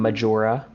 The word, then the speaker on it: Majora: camera oh no amazing I am majora like the mask yeah you got it